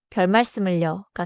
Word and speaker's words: 별말씀을: 나 좋게 봐 주셔서 감사합니다가 좋고 감사에는 별 말씀을려가 좋아요. 발음은 별의 받침 리을 그대로 살리고 말씀을 자연스럽게이어서 말하세요.